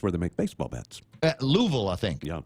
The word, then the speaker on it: Louisville: Louisville, I think. Yeah. You got to say it like that. Louisville. It's not Louisville. Yeah. It's Louisville, right?